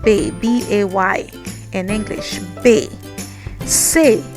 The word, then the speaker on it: C: Say. Say, you pronounce it like how you are saying say.